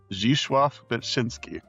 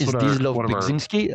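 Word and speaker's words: Zdzisław Beksiński: Zdzisław Bekzinski. Yeah, you can spell it that way too. It has two pronunciations, I think. Yeah. One is Zdzisław Bekzinski, and Yeah.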